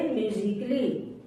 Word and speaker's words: musically: अगर ए के बाद डबल एल वाई आए तो ए साइलेंट होता है। जैसे म्यूजिकली, MUSICALLY, म्यूजिकली। म्यूजिकली नहीं बोलेंगे इसको, म्यूजिकली।